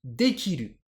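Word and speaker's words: 出来る: vous donne un exemple ce mot se lit d qu'ilu alors dquilu c'est un verbe ça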